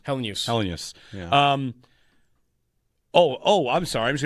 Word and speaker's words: Helenius: Helenius. In the second part. 3 there has been syllables. throwing He me. said it. It's Helenius. Helenius.